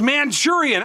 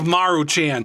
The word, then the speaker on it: Maruchan: But the other day, I saw A VIDEO WHERE THIS GUY WAS PRONOUNCING THIS AS MANCHURIAN. I DON'T KNOW HOW in the world you can get Manchurian out of Maruchan.